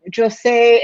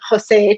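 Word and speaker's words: José: of times when um jose and here i'm using the french pronunciation um jose to spanish speakers um when his his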